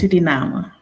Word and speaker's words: Suriname: Surinama. Surinama. The right pronunciation is Sudinama.